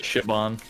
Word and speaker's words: Siobhan: By the way, your mom's name is Siobhan, but it's spelled the Irish way. So I just want you to. Shibon.